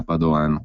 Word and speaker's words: Padoan: dello stesso ministro dell'economia Padoan con l'accento sulla seconda A quindi il quadro generale